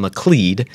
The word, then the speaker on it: McLeod: that I pronounce some Laclede just remember that rhymes with lead McLean lead in sanitary